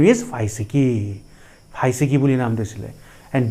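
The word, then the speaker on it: φυσική: And the pronunciation of the word is phaisiki.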